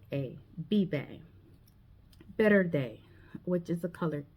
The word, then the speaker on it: verde: It's not verde with the letter V, but it's better with the letter B.